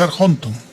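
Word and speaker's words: ἀρχόντων: Pero aquí no es arge, es arjonton.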